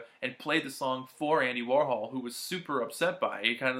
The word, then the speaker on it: Andy Warhol: we're going to record Andy Warhol. And Bowie was like, no, it's Andy Warhol. He was saying it wrong, and Bowie was correcting him, that he cracks up.